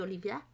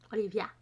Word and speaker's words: Olivier: alors Olivier alors ça ça s'écrit Olivier ça se dit Olivia Olivia donc c'est Olivia he sur son patréon